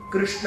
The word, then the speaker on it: कृष्ण: अब हिंदी भाषी जितने वो कृष्ण कहते हैं, तो उनके प्रोनाउंसिएशन के चक्कर में बेसिकली करेक्ट प्रोनाउंसिएशन कृष्ण है, क्योंकि संस्कृत में क्रू होता है, क्री नहीं होता। हिंदी में क्री बोला जाता है पर संस्कृत में क्रू